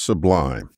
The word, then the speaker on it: sublime: time to review what's Sublime which by the way rhymes with Divine it's time to catalog